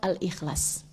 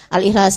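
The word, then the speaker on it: الإخلاص: baca 1000 kali surah Al-Ikhlas. Hm. Baca 1000 kali surah Al-Ikhlas. Teman-teman sekalian bacanya dari pagi dari habis subuh ya. Enggak harus sekali duduk baca 1000. Enggak harus. Dan bacanya bukan Al-Ihlas, al-Ikhlas. Al-Ikhlas.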